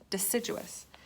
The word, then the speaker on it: deciduous: that's a big word let's say it together duh sit gieux us that's four syllables deciduous the trees that keeps